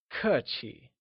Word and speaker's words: 客气: Polite literally translates to 客气, where 客 is pronounced using a falling tone and 气 with the neutral tone. Can you try and say 客气?